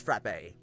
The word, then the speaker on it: frappe: You absolutely need to try Greek frap. I've been saying it wrong, haven't I? I've been saying it wrong because I work at Starbucks. It's frappe. It's frappe.